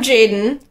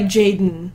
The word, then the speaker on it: Jaiden: I'm Jaden, and I... Jaden. My habit is to, like, say my name, but not the E, so it's like Jaden.